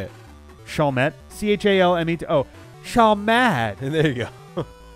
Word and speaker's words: Chalmette: Asserted that he grew up in New Orleans and described having, quote, an entire family in Chalmette, Louisiana. I don't know. Say it like he would say it. Chalmette. Chalmette.